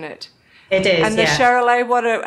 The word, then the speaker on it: Charolais: you've got Hebridean and I'm saying this wrong, Charolais, or just correct me, how do you say it? Yeah, they're actually Charolais.